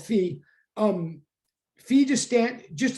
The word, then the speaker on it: phi: think nobody knows i people differ over what to pronounce it i'm going to call it fee um fee just stan